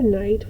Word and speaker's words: knight: i-g-h-t and we have another knight with the silent k as in using swords and armor k-n-i-g-h-t